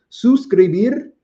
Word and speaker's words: suscribir: I like saying this word so much because I work very hard to pronounce it. Suscribir, suscríbete, suscriben a mi canal, subscribe to my channel.